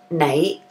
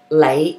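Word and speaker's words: 你: So this is similar to how the, in Cantonese, you, right, is nai, or more commonly pronounced nowadays is lei with an L sound instead of the N.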